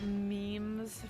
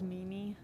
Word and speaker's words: meme: who couldn't say meme i thought it was mimi because i didn't i thought meme sounded dumb i think i also did maymay for a bit because i had just learned how to make an utau and so i had learned how to pronounce japanese phonetics and so i was like oh mamie i was wrong customer be welcome not